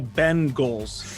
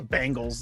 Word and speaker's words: Bengals: bengals not the bengals it's the bend goals i've been told many times seems like that bothers you scrapy well i've been told so many times my radio career i'm pronouncing it wrong it's like everybody says the bangles like who who who literally says cincinnati bengals bengals no no no one